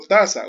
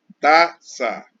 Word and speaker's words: taza: Por ejemplo, taza. Usted ve la palabra taza. No tiene tilde, pero tiene acento. ¿En dónde? En la sílaba ta. Taza. Porque si no diría taza.